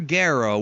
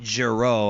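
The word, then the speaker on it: Gero: this drunks tells them dr. Guerra which is the right way to say his name by the way folks not Jiro I'm sorry Funimation you up dr.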